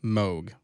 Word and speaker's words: Moog: Moog. Yes. And the reason I say it that way is that's the general pronunciation for like North American dialects. Like Moog is just what it